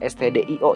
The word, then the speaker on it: stdio: pada bahasa pemrograman si ini dibacanya sebetulnya stdio ya Yang mana singkatan dari standar input output artinya Apa artinya stdo